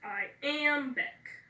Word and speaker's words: iambic: Okay, so the first syllable of iambic is I, so that's unaccented. Am is the second syllable, that's accented. B-I-C is the last syllable, that's unaccented, so it's iambic, okay?